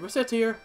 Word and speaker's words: Recettear: not that well but well that is that's reset here hello reset here mispronounce it even slightly and ret racket here